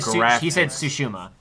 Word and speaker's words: Tsushima: How do you pronounce? Huh? And he said Tsushima.